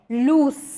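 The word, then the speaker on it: loose: पहला जो लूज है इसका साउंड आता है लूज, जहाँ पे स से साउंड एंड होता है।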